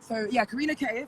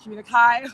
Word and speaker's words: Kareena K: Kareena K. First of all, pronounced K, like not Kareena Kai or Kareena Key.